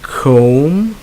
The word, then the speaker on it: comb: end with M B and if you dropped the B so the B is silent so you have lamb you have comb you have balm you have num yo plum and then you have tomb alright so in all these